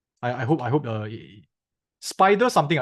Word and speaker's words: SPDR: I hope I hope spider something it's not spider something they they actually it's a nickname spider is a nickname for spdr okay spdr okay they they pronounced as Spider but they are actually